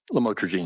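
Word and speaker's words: lamotrigine: about the u the lamel otherwise known as lamatraene. Did I pronounce that right? Lamotraine.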